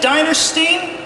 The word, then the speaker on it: Dinerstein: But for now, we've got Sid Dinerstein. Did I pronounce it correct?